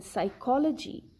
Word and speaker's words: psychology: or p n right like in psychology p is not pronounced it is silent in pneumonia p is